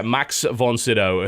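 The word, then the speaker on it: Max von Sydow: can dream oh yes yeah that's how you pronounce yeah max von siddow who frankly sounds like a sith lord in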